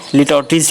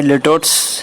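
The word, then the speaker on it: litotes: ये लिटोटिस की तरफ, लिटोटिस इसका इस तरह से प्रोनाउंसिएशन होता है। दिखने में लिटोट्स दिखता है, लेकिन एक्चुअल प्रोनाउंसिएशन इसका लिटोटिस।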